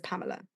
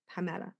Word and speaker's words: Pamela: with my own name everyone says my name wrong too I'm Pamela and everyone says Pamela but Pamela oh amazing I got